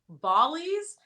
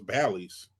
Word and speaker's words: Bally: Am I saying it wrong? Like, does anybody know? I thought it was Bally's. I think it is Bally's?